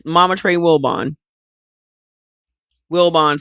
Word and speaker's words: Wilbon: Wilbon sounds like it's spelled Wilson with a B.